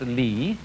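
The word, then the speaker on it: 理: world do you remember this word which is pronounced li and which had as its original meaning the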